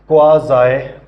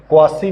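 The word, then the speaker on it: quasi: Chapter 8 है क्वाज़ाई। क्वासी नहीं इसको बोलना, वैसे बोलने को तो चाहे बोल लें, लेकिन क्योंकि पेपर में तो लिखना ही है, लेकिन ऑब्वियसली हमें लीगल टर्म्स का जो सही उसके प्रोनाउंसिएशन है वो हमें सही आनी चाहिए। तो क्वाज़ाई इसको बोला जाता है।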